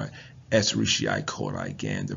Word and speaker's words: Escherichia coli: Well, the actual term, the real term is, we call it Escherichia coli. Again, the pronunciation is Escherichia coli.